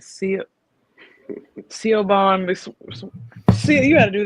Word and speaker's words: Siobhan: Okay, so it's Siobhan.